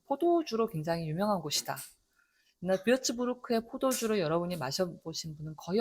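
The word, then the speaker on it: Würzburg: 그가 있으니까 르라고 읽지 않고 크라고 읽는 거죠. 뷰츠부르크.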